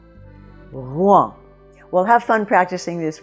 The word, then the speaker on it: Rouen: very good either so see if you can get "r", that little soft "r" in the back of the throat and get to Rouen, Rouen.